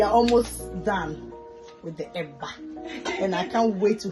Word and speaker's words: eba: So we are almost done with the eba, and I can't wait to have a taste.